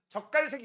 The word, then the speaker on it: 적갈색: 그 색깔이 발음 조심하세요. 젖갈색입니다. 알겠어? 젖깔색. 발음. 젓갈색. 젖 같은 색 아니야. 알겠죠? 적갈색이 있습니다.